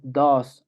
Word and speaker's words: does: Cambia la pronunciación y le tenemos que añadir un es. Entonces, hay que aprender que la pronunciación en tercera persona es diferente a la pronunciación en primera persona y que aparte tenemos que añadirle es.